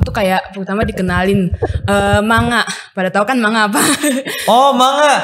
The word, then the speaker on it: manga: kalau Oke jadi kan manga itu komik Jepang Tapi kalau aku dengar dari orang Jepangnya langsung tuh bacanya mangga jadi kayak emang kedingannya kayak mangga di kita Iya enggak salah sih